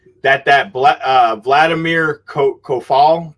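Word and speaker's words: Coufal: that uh vladimir ko ko fal ko fall is how you pronounce it sue follow the defender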